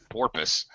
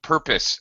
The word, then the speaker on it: purpose: Sounds like porpus. Um, no purpose. Uh, this is a fundamental element of English. The purpose, the first syllable is stressed.